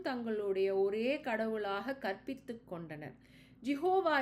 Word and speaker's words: Jehovah: Jehovah is an artificial pronunciation of the consonants JHVH or YHWH, root from Sanskrit. According to tradition, the word was pronounced Yabi. This seems to indicate Jehovah or Yahweh, a pronunciation adopted by many modern scholars.